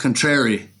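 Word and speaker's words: Cuntrari: okay contrary yeah yeah but it's yeah pretty pronounced contrary it's like c apostrophe so um anyway yeah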